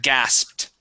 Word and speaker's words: gasped: let's see here uh gasped all right this is a little bit more difficult we have a t at the end gasped gasped good one more